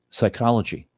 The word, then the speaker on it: psychology: Psychology. P is silent.